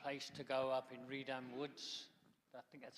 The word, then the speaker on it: Reedham Woods: It used to be a place to go up in Reedham Woods. I think that's how you pronounce it, Keith, isn't it? Yeah, Reedham Woods.